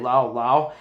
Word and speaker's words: Lowe: I think you say Brandon Lau, and Josh Lowe, because it's basically their last name is spelled the same, Lowe, but you say it differently, Lau and Lowe.